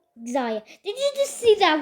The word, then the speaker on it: Xayah: I don't know why I pronounced that. It's called Xayah.